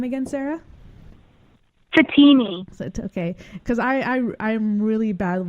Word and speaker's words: Fatemi: Fatemi. Okay, because I'm really bad with last names. Think of like martini, but say Satini.